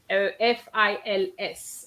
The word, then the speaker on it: fils: Okay, you have to be careful with the word F-I-L-S, okay? I'm going to stop sharing for a minute. I'm just going to go on to the chat. Okay, you have feel and fils.